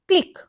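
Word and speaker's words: clique: 173 इट is called क्लिक क्या बोलेंगे इसको क्लिक यह वाला क्लिक नहीं देख स्पेलिंग कैसी होती है एक एक ये वाला क्लिक होता है लेन प्रोनाउंस हम सेम करेंगे तो यह क्या होता है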